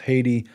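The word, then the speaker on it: Hathi: as the haiti trust it looks like happy trust but they say it's pronounced haiti much like the country and it's a reference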